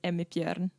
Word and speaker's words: Emmi Bjorn: been great so far awesome so the proper pronunciation of your name so my name is Amit yen there you go that sounds much better than